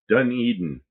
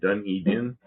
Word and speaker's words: Dunedin: Dunedin. Or Dunedin?